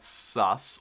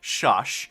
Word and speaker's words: Shush: of influence and cash and sus or shush as i'm told it's properly pronounced and um and yes